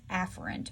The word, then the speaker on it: afferent: nervous system these are called afferent the better pronunciation is afferent but afferent helps me determine which one is